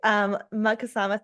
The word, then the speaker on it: Magkasama: Um, Dan, what I love about Magkasama, and did I pronounce that correctly? Thank you. Magkasama therapy is that you share that you are